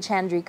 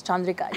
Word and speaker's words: Chandrika: West when they're like, what's your name? Is it Chandrika? I'm like, no, it's Chandrika. You have to say it properly.